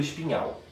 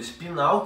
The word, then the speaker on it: espinal: A gente pode falar medula espinal, que é o jeito que se escreve, ou a gente pode falar medula espinhal, não tem problema.